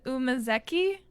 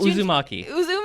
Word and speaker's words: Uzumaki: Umazeki? Is that how you pronounce it? I don't know that one. So the Junji Ito. Oh, Uzumaki. Got it.